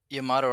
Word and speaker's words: Yamato: five with no abc dre how many uss yamatos have there been is it like the enterprise yamato rhymes with clamato okay it's clamato juice clam and